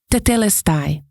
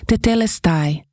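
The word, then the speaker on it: τετέλεσται: A palavra, e eu ouvi essa palavra pronunciada de várias maneiras, mas eu vou pronunciar como a ouvi mais frequentemente, que é tetelestai.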